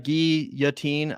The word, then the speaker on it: guillotine: Guillotine is pretending sorry Guillotine is pronounced Guillotine that's right GI yatin I tried to say